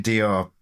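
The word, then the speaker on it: Dió: Yeah, it's actually Dior, like because of the accent on the O. A lot of people say Diō, which is but technically the pronunciation is Dior. I think, you say Diō, it probably brings some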